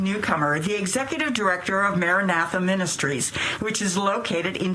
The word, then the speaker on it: maranatha: at the very beginning maranatha now did i pronounce that correctly yes you did no okay the word is biblical aramaic it's the message that